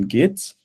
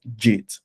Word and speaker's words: Git: hope we look at the fundamental concepts in gits and would also look at the simple project